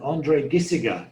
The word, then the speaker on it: André Gisiger: And André Gisiger, right? Have I pronounced that correctly?